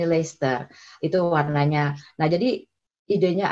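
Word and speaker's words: Leicester: yang mungkin udah kanan Itu kan lechter mungkin bacanya Sorry tulisannya les tapi kita bacanya disini lechter itu warnanya Nah jadi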